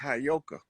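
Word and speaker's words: heyoka: I know you that that word is properly pronounced hyoka the hyoka is the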